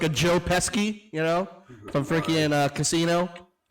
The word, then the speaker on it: Pesci: in the back, kind of like a Joe Pesci, you know, from freaking Casino. What you say there, motherfucker? You fucking talking to me? Like, kind of that thing. Isn't it Pesci? It is Pesci, but I wanted to say Pesci.